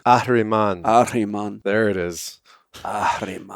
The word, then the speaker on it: Ahriman: Thank you, and hope you guys caught the basic core principle of Lucifer, Ahriman, and Christ, I'm going to have you pronounce it the Farsi style. which is Ahriman.